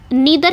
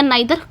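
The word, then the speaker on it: neither: Next पे आएंगे नीदर या नाइदर कुछ भी पढ़ सकते हो ना तो या कोई नहीं तो इसको आप कुछ भी पढ़ सकते हो। एन ई आई टी एच ई आर नाइदर या नीदर कैसे भी आप प्रोनाउंस इसको कर सकते हो।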